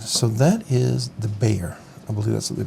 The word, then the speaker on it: Bexar: different H all right so that is the Bayer I believe that's what they pronounced Bayer some people call it the Baer but it is pronounced Bayer as I understand